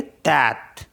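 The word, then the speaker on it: tête: Next है TETE, तो इसको पढ़ेंगे तैत।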